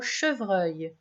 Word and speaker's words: chevreuil: Le son œil s'écrit E-U-I-L.